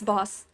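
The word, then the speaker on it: Bosch: what's his name heronimus boss it's apparently it's boss and not boss I looked it up about uh like the way that it's pronounced in his like original language or whatever and you know why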